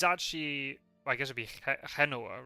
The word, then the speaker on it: Genoa: Oh, it is actually Genoa, not Genoa. Interesting. I'm trying to think then. Oh, is it really Geordie? Okay, Sophia. Okay, Sophia. Right. That's interesting then. So the English and Spanish pronounce it differently. The stress is in a different place.